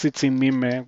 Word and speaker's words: Tsitsimime: Um, yeah, this bot has a million Tsitsimitl, or I guess Tsitsimime would be the correct way to pronounce the plural.